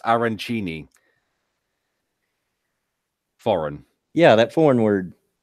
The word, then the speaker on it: arancini: A functional says it's pronounced arancini.